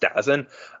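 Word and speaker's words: DAZN: televised it with uh d a ZN I think it's pronounced dozen um I don't get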